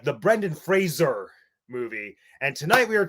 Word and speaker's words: Fraser: was like the Brendan Fraser show. Fun fact, did you know that his name is supposed to be pronounced to rhyme with razor and not Frasier, like the TV show?